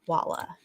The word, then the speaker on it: Walla: I think the reason they're so weird about Walla is because her name rhymes with Valhalla.